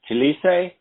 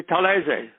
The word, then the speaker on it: Talese: Your name is Gay Talese here in the United States, but the name Talese, if you were in Italy, wouldn't you be referred to as Talese? No, it would be Talese.